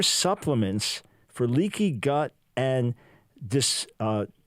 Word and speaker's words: dysbiosis: a chapter, super supplements for leaky gut and dysbiosis. How do you pronounce that?